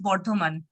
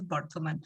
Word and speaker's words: Bardhaman: How is it pronounced? Actually, in Bengali, we call it differently. It's Bardhaman.